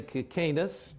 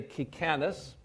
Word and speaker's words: Kicanas: to pronounce my name some people in my family say Kus as Jeff did some say kis in Arizona they say kakanis my uncle actually changed